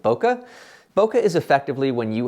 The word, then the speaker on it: bokeh: for different people and you might pronounce it in different ways I'm calling it Boca Boca is effectively when